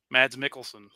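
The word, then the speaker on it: Mads Mikkelsen: Um, now I I never get I never pronounce the name right. It's Mads Mads Mickelson. Mad Mickelson.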